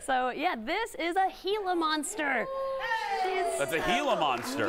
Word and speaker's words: Gila: request okay uh talk to us about the hila monster yeah so a lot of people pronounce it Gila monster it's spelled GI laa but if you